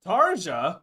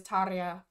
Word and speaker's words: Tarja: me oh of course tarja tarja are we just the one saying it wrong or was that a Butch no I think he butchered it I'm pretty sure it is tarya yeah we know tarja